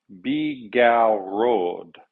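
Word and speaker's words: bigarade: And the sauce, bigarrode. My wife has given me the thumbs up that I pronounced it properly.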